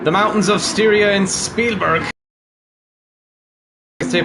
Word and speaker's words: Spielberg: in Austria in the mountains of sta in Spielberg as they pronounce it there as we turn from the